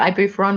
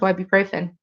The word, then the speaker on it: ibuprofen: And whenever she'd call it ibuferon, we'd correct it to ibuprofen.